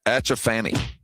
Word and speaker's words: Atchaphannee: It's Achafani. Spell that for me. ATCHAPHANNEE. Huh? Achafani. You know what? Would you say Achafani is a boy or a girl? Ooh, that's a good one. I'm gonna go Achafani.